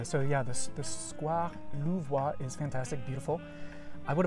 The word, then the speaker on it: Louvois: It's called the Square Louvois, and it's spelled L-O-U-V-O-I-S, Louvois. A little bit like the Louvre Museum.